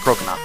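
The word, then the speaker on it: Croconaw: Now he's going to be bringing out his last partner, Crocona, that's how you pronounce it, Crocona.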